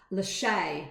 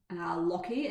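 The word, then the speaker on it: Lachie: It's Lachey, not Lockie, as I was saying.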